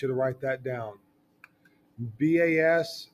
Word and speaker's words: bas: to write that down Bas is pronounced ba it's pronounced like bah humbug foreign High Relief comes